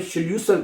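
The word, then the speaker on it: Schlüssel: चाबी को जर्मन जुबान में शलसल कहते हैं। उसमें एल आता है।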